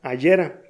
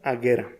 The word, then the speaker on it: Agera: Luego de unos minutos de búsqueda te das cuenta que no se pronuncia Agera, tampoco Agera. Queda como Agera.